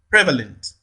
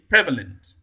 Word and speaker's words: prevalent: Prevalent. That's option A, prevalent. There, the primary stress falls on the first syllable, prevalent.